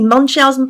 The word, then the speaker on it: Munchausen: Things which no child should have to go through, but especially taking a look at Munchausen. Have I pronounced that right, Nancy? Munchausen by proxy?